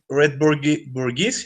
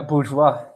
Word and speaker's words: bourgeois: Yeah, and Allende, against what people usually believe, he was red bourgeois. How do you pronounce that? Yeah, bourgeois.